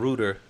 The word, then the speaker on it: router: that you'll see that router is the American pronunciation and Rutter is the British pronunciation so you know I